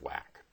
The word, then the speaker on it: WACC: capital is abbreviated wac which is pronounced wack so we're talking about the wack we need to keep